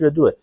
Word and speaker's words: ودو: و حتی طلسمات ود حالا تلفظات دیگه‌ای هم داره ولی درستش و دوئه خب این تلسم بیشتر